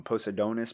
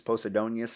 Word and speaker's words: Posidonius: think it's like posted i always get his name wrong post adonis posidonius i always want to say poseidonis uh and penadius i